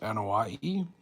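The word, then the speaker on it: Anoaʻi: But Rodney, I think, is I think is pronounced Anahei.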